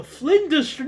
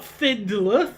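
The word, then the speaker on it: Flinders: excellente the molto people at findler street the flender not findler flender I keep saying it wrong okay at least we've solved this issue mostly.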